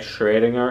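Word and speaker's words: Schrödinger: I suppose without these a lot the correct pronunciation in German is something more like trading her it's not in our phoneme sphere so difficult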